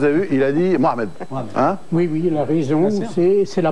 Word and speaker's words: Mohamed: Camille Cabana vous avez vu il a dit Mohamed oui la raison c'est la bonne prononciation et en plus il a aimé ça